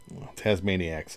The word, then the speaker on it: Tazmaniax: Well, it's actually Tasmaniacs. I I pronounced the X. Tasmaniacs because anybody who follows me is a maniac, right?